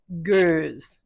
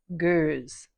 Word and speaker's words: Goes: So the Belgian style is Goes, and the German style is Gose. Goes. And Gose.